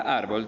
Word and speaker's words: árbol: vocal por ejemplo árbol la palabra árbol tiene acento en la penúltima sílaba que sería ar esta palabra se tilda